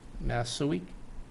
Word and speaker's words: Massouek: of the applicant is gregory massouek is that how you say it yeah okay okay uh address